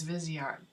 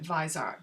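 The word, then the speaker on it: Viseart: people pronounce it but I read somewhere that the correct pronunciation was visi art but a lot of people do pronounce it visor but Wow does that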